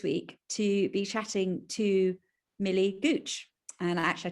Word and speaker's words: Millie Gooch: So I'm really excited this week to be chatting to Millie Gooch. And actually, I checked with Millie beforehand. I've pronounced her name right.